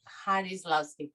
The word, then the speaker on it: Jarislowsky: Am I pronouncing correctly? Jarislowsky, thank you so much.